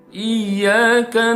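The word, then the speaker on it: إِيَّاكَ: nasta'in high in nah kesalahan yang sering terjadi di ayat ini adalah kita lihat di sini huruf ya ya di dalam frase Iyakah ini bertasydid ya tapi sering kita mendengar orang membaca dengan seorang tidak ada tasydidnya iya iya Nah ini salah ya tapi harus ada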